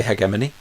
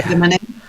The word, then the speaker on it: hegemony: Now, this is a word that there is no official pronunciation in the English language. You can pronounce it however you like. So I tend to say hegemony. I say hegemony. A lot of people say hegemony. And, these are fine. So it doesn't matter how you pronounce it.